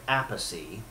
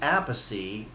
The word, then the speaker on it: Appice: So they are brothers, but they cannot agree on the proper way to pronounce it. And I believe it is Appice, but Carmine went with Appice because that's what so many people have said.